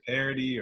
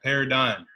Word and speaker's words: Paradym: finally said it right because so many people say parody or parody, You don't want it to be a parody, right? right, Paradym.